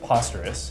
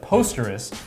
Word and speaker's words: Posterous: And my impression is it's pronounced Posterous, right, as opposed to Posterous, which some might say it makes a little bit more sense given that you are a blogging platform.